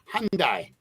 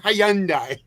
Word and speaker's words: Hyundai: it hyand Hy Lori it's the why is silent it's Hyundai Hyundai Hyundai whatever but it's not Hyandai Hyandai that's a that's a